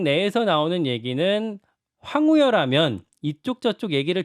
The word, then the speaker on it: 황우여: 국민의힘은 비대위원장으로 황우여 이렇게 발음해야죠. 네. 황우여 전 부총리.